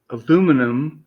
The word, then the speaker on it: aluminum: So, for We're you, what's the correct pronunciation? Is it aluminum or aluminium? it is aluminum No, if fuck.